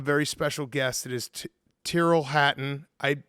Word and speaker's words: Tyrrell: welcome on a very special guest it is Tyrell Hatton I said that to myself about a